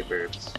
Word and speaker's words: burbs: I also say burbs. I spoke with Christopher. Pretty sure burbs is the proper pronunciation.